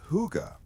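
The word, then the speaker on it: hygge: Long before the modern world fell in love with the Danish word huga, pronounced huga, the people of the north were living it out of necessity.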